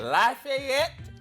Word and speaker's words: Lafayette: Lafayette, Louisiana.